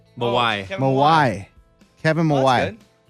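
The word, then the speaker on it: Mawae: It's Kevin Mawai. But Oh, why? Kevin Mawai.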